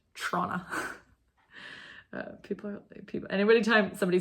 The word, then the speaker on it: Toronto: just heard me say Toronto with 2 T's. I'm so sorry. Trona. It's like, you know, if you say any T's in the word Toronto, you're not from there. It's pronounced Trona.